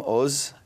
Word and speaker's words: Oz: when I was three hence the unusual name Oz it's everyone looks at it and especially in my business they think Oz like wizard of it's actually pronounced o but